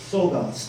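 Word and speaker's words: Czolgosz: This is where the assassin, and by the way, how do you pronounce his name? Leon Sogas, thank you.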